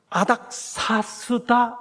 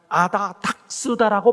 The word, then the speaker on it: 아닥사스다: 그게 뭔가 하면 아닥사스다 몇 년이라고 성경에 되어 있는데, 그 아닥사스다에 기초한 소위 예언 해석에 대해 반론을 제기하면서 이분이 계속해서 뭐라고 발음하시는가 하면 아다닥스다라고 발음합니다.